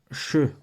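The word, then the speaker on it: שׁ: pour commencer à savoir le Chine fait le son che qu'on écrit ch ou SH comme dans shabbat voilà comme dans shabbat par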